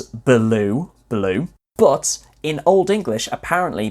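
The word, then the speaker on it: belewe: so is spelt b-e-l-e-w-e which you can phonetically pronounce as blue blue but in old english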